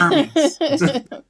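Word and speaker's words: Hermès: ass scarves that they're Hermes scarves her heres no they're Hermes that's a a a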